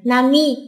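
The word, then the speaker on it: 並み: khi đó chúng ta không đọc là Nara nữa nha mà đọc thành Nami có hai cách phên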